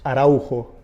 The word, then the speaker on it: Araujo: So how is your surname actually pronounced? Araujo.